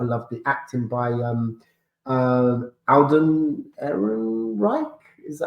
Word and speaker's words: Ehrenreich: I loved the acting by Alden Ehrenreich. Is that how Aaron you Reich, pronounce yeah, it?